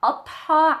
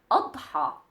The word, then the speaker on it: Adha: Adha. So this is the name of the celebration that we have nowadays. Adha. Adha. It has the D and the Ha sound in it.